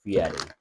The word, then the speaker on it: Fieri: It's pronounced Fieri.